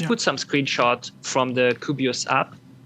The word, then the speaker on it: Kubios: um if we uh it's kubios k kilo uniform bravo india oscar sierra fubios and then you said